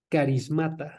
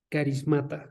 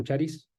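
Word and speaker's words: χάρις: griego para dones es carism carism se escribe ch y todo lo demás como suena carism okay nada más se pronuncia caris Okay este también lo van a escuchar como charis Pero se pronuncia caris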